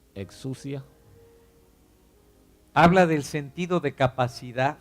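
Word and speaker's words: ἐξουσία: Autoridad en griego Authority in Greek se pronuncia exousia. is pronounced exousia.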